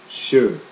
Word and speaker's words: sjö: SJ together sound like the English SH combination with a Y. Sjö, sjö.